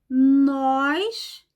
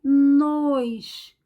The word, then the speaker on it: nós: Ó aberto por exemplo nós que é ó aberto e nos o fechado observem sempre o Lábio